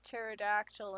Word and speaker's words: pterodactyl: How come you can't hear a pterodactyl in the bathroom? Because the P is silent.